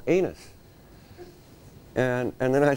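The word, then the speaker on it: Ainness: I'd gone to Ireland on my honeymoon, and we went to this one town called, well, it's spelled A-I-N-N-E-S-S. And it's pronounced anus.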